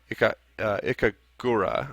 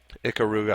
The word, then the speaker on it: Ikaruga: software test buttons uh ikura I think that's how you pronounce that I thought it was ikaruga but I is it kagura ikaruga yeah um ikaruga ikaruga our typee is still